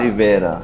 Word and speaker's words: Riviera: loose, wide-legged beach pajamas on the French, कैसे pronounce करते हैं? Riviera. Rivera.